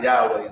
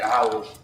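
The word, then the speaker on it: Yahuah: one is that Yahweh why is it not Yahweh why is it yahwah okay instead of Yahweh okay Yahweh is not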